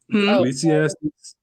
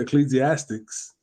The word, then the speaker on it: Ecclesiastes: Ecclesiastes. Stupid. I'm trying to say it right. Because people say ecclesiastics.